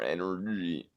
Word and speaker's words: NRG: fun up for this how do you say our opponent's name nrg so i mean i'm not gonna like correct you are you gonna say it has to be energy but i'm gonna correct